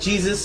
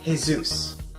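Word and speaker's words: Jesús: I'll never forget, birthdays was when I learned that while a name can be spelled like Jesus, it's actually Jesus.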